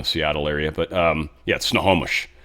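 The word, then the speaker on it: Snohomish: Sort of more in the Seattle area, but um yeah, snowomish, not snowish.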